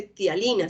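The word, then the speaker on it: ptialina: O la gente le dice tialina, se escribe P-tialina.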